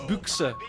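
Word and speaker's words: Büchse: Is that how you say it? It's Buchse, I've been told today Buchse. By Germans. Genuine Germans have helped me with that.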